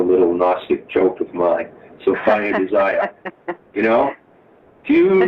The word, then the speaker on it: Sophia: That's why I use the word Sophia, because it rhymes with desire. It's kind of a little Gnostic joke of mine. Sophia desire.